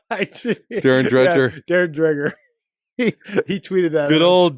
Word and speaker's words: Dreger: I Darren Dreer Darren Dreger he tweeted that good old Darren drer and Hazel Ma mazeltov I pronounced all the letters in his name that's the problem so it should be dredger Dreger yes but the it's